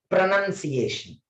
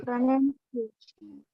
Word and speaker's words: pronunciation: First one correctly I will pronounce. Second one wrongly I will pronounce. You observe. Right one. Pronunciation. Wrong one. Pronunciation.